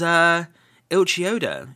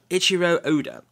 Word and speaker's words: Eiichiro Oda: It was Eiichi Oda. I'm trying to pronounce his name correctly, so Eiichiro Oda.